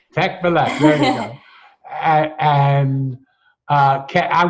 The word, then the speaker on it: Tekbilek: Tekbilek. Tekbilek.